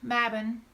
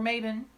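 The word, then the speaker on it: Mabon: beginning of autumn blurred whoa mavin or mavin I've also seen it my boond it depends on your spelling again but anyway my better mavin this is the killer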